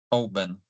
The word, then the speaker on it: Oban: Oban. Oben.